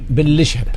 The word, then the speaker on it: Benlacheheb: Pour ceux qui veulent parler à notre coach, Toufik Ben Lacheb. C'est ça, hein, oui, je prononce bien. Cheb. On va le dire بالعربية Ben Lacheb.